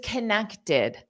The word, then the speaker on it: connected: But first, this connected. This T-E-D, the E-D is pronounced as id.